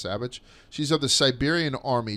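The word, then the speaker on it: Savić: It's Savic, but it's pronounced Savage.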